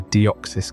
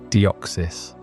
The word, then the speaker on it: Deoxys: Let's start with the name Deoxys. It's not a random syllable combo designed to sound cool, though it certainly does. Say it slowly and you'll hear the echo of deoxy ribboucleic acid DNA, the molecule that encodes